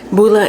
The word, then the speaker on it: Pulla: Pulla is spelled P-U-L-L-A. It is a Finnish word, and it is a